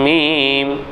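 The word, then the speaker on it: ميم: லாம் அலிஃப் அலிஃப் லாம் மீம் சரிங்களா அடுத்து மீம் மீம் மீம் இரு உதடுகளையும் சேர்த்து உச்சரிப்பது சரிங்களா நூன் வல் கலம்மி வல்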